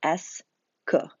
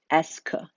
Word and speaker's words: est-ce que: It's pronounced S-que, that entire thing, S-que.